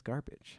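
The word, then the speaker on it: Garbitsch: name one more time his name is garbage garbage garbage garbage it's garbage it's spelled g-a-r-b-i-t-s-c-h also known as trash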